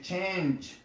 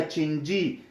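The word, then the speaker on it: change: مثلا که زه وایم چې چینج، دغه ای اخر کې چې دی نه تلفظ کېږي، چینجای نه ویل کېږي یا چینجي، چینجي نه ویل کېږي.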